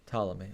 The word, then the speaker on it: Ptolemy: How do I pronounce Ptolemy? Ptolemy. Okay, with the T.